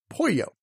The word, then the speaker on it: pollo: of pronunciation is that when you see two L's together it makes the Y sound you already know this with a pair of culinary Essentials the quesadilla and Pollo the humor in Napoleon